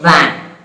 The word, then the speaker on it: van: Then sound in the word van. If I pronounce the word van, I have to release the air. Van, not van. Van. There, I vibrate my vocal cords there.